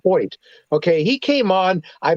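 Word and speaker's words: Hoecht: Michael Hoyt a linebacker it's it looks like heshed it's h-o-e-c-h-t but it's pronounced Point okay he came on I believe he had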